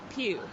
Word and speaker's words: Pugh: is a puppy ug8 Pugh pronounced like church pew cool okay now as